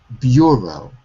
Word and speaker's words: bureau: So the vowel is pronounced in the stressed syllable. This is a French word, bureau.